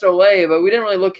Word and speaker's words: Ole: he's like well I know his name is pronounced Olay but we didn't really look him up we